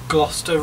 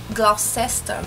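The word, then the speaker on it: Gloucester Road: estação gloster Road e um erro muito comum que eu escuto muito até eu mesmo fazia esse erro que seria lendo a palavra literalmente pronunciando do jeito que nós lemos né que muitas pessoas falam glester ro e não é glester não existe é gloster ro e Uma Outra Estação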